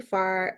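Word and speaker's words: FFAR: introduction um so basically far uh foundation for food and agriculture research pronounced far we're at independent 501c3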